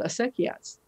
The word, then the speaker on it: acequia: about this very ancient water delivery system called acequias. And it's a huge, deep part of the culture. Can you just spell that so we can look up later?